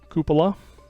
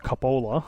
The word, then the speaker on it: cupola: We've got a viewing cupola. Not pronounced cupola, as I used to think.